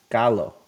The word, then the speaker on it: Gallo: how to pronounce it it's Gallo gallo hello how low can you go okay okay now I'm